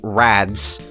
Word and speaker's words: Rads: The name is Rats, not Rats. Rads. Say it right.